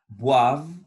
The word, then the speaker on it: boivent: Les enfants boivent de l'eau. Les enfants boivent de l'eau. Attention à la prononciation du verbe boire. C'est avec v. Boivent, boivent, boivent de l'eau.